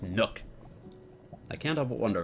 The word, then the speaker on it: Nook: It's pronounced Nook.